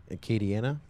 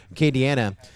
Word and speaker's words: Acadiana: race yes Acadiana is that he say to Acadiana yeah I knew I said it right it's Chris Thomas who messes it up I say it right Kady Anna FPV gonna be hosting a 12 hour team